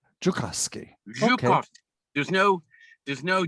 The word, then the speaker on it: Joukowsky: It's pronounced Joukowsky. Joukowsky.